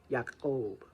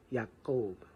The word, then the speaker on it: Yaakov: So, of course, he starts off as Jacob, Yaakov, and really it would be pronounced Yaakov, Yaakov, Yaakov, like that with kind of a click.